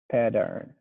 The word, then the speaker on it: pattern: heard it from you i just heard something like a d sound but i used to